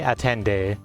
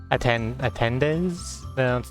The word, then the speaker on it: attendez: Oui, le tournoi des amis, c'est pas fini, attendez. Attendes? No, you don't pronounce the Z.